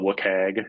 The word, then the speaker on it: WCAG: this is all acronym land but it's called Wok hag that's how most people pronounce it it's the web content accessibility guidelines